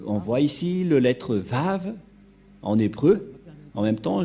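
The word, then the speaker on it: ו: bien lire l'hébreux et confirmer que la parole de Elia l'ambassadeur de yahoshua est vrai que ça se prononce vraiment V voilà donc le vave ou le lettre V ici en haut on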